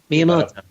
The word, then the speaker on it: Miyamoto: Yeah, I mean, like, famously, one of their games, which, we're going to look at later, when Miyamoto, how do you pronounce it? Miyamoto.